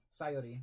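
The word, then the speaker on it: Sayori: back Zori hi ax sori sori no sori sori sori sori sori sori emphasis put on the first syllable so not sori it's sori sori sayi sayi is that better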